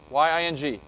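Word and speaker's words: 赢: Set constant win to be, how do you say win in Chinese? Which one? Y-A-N-G? Y-I-N-G. Y-N-G. Okay, everybody remembers that win means ying, okay?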